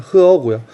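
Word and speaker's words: 河: 원래는 중국어로 읽으면 흐어고요.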